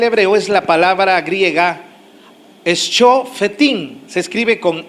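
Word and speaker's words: שופטים: De hecho, la palabra para juez en el hebreo es la palabra griega Shofetim. Se escribe con S, C, H-O, Sho, F-E-T-I-M, Fetim, Shofetim, que significa juzgar, vindicar, castigar y gobernar.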